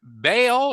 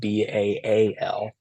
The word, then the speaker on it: Baal: It's Baal, Baal. So it's just kind of whatever you want.